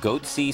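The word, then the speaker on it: Goatse: They're called Goatsy Security. Is that my pronouncing that correctly?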